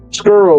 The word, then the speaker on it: Skuru: Skuru, like Skurrow, Skuru.